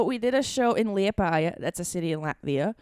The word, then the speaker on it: Liepāja: Liepāja.